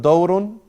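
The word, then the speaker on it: دَوْرٌ: So you're sure, if you're going to memorize the word dawrun, you know it's with the fatha on the dal.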